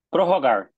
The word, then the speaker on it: prorrogar: Prorrogar. Prorrogar. Prorrogar. Prorrogar. Como R. Prorrogar. R, né? Garganta. R.